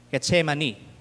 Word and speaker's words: Getsemane: O ano po bang tamang bigkas? Getsemane.